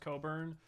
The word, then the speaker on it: Cockburn: co uh C is supposed to be pronounced Coburn but like one Americans